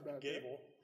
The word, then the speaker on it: Goble: mayor and councel uh my name is Gable spelled goe b but pronounced Gable um I own property